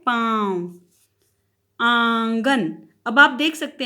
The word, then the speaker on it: पाँव: पाँव, मुख और नाक दोनों से इसका उच्चारण हुआ है पाँव।